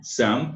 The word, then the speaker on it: some: Some, né? Some morre a pronúncia no som do M, não se pronuncia o E.